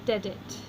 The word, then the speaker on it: dedit: It's two-syllable words, so the accent goes on the first of the two, and we have dedit.